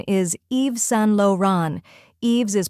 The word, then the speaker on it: Yves Saint Laurent: the correct pronunciation is Eve San Lan EES is pronounced as Eve with a silent s Saint sounds like San with a nasal tone luron is low Ron